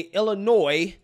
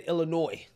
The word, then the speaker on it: Illinois: pronounce words and names I said Illinois not Illinois right so I'm listening okay